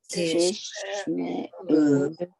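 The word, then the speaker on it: תשמעו: Now you see there's 2 shvas. When you see the 2 shvas, you separate them. So the first one is the end of the syllable, tish, and the other one is open shma, me'u.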